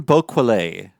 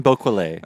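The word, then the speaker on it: Bocquelet: this wrong, but I'm pretty sure it's Ben Boquelet. Okay. Yes, Ben Boquelet. All right. We're just going to go with that for now for our pronunciation.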